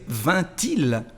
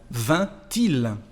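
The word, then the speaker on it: vainc-il: No se pronuncia la C final, il vint, pero se escribe. Y ahora si queremos hacer una inversión, bueno, en ese caso se necesita agregar la T euphonique aquí para decir vint-il, vint-il.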